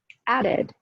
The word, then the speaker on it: added: Added, added. Where's the stress? Added, added. First syllable, right?